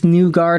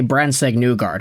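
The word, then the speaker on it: Brandsegg-Nygård: I can see them loving both Nygard. Okay, don't just say it like that. You have to say Brandsegg-Nygard.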